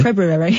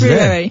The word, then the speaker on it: February: February. Yeah. With the R. I've pronounced the R because it's February.